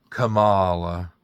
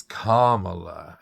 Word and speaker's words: Kamala: Whenever she would say, Kamala, and I would say, it's Kamala. And she'd say, well, I'm saying Kamala.